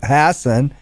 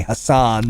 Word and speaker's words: Hassan: Senator Maggie Hassan, and that's an Irish name, that the local yokels on the right like to say Hassan. Oh, not just local. They do that nationally, too. The Republicans, they pronounce it Hassan, and they think they're clever.